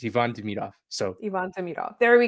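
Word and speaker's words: Ivan Demidov: I got I I I got yelled at for calling him Ivon.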